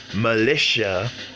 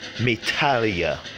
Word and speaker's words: militia: a mini militia yes dragon masked MSG it's pronounced militia and not metalia so it's basically has to do with the